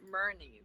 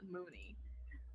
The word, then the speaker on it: murni: really mentioning his website it is m-u-r-n-i dot com dot m-y merni dot com dot m-y not mooney mooney merni yeah marnie yeah what's